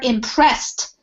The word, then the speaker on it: impressed: were impressed and so this is more like a t sound we were impressed and she got the